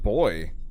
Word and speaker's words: buoy: It really is pronounced boy, amusingly.